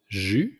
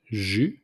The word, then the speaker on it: jus: Juice, it's jus. So we don't pronounce the S at the end, it's simply jus.